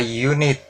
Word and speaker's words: unit: Lalu unit, tulisannya unit dengan U atau huruf mati, namun pengucapannya juga huruf mati. A unit, maka kita pakai atau kita gunakan European, kita